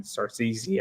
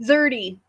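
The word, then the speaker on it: Szerdy: Sun Kumanaki to Nathan Sarcisi, I think that's how you say his name. I might be. How is it pronounced? Zerdy. Zerdy. Yeah. It looks very different than it's spelled.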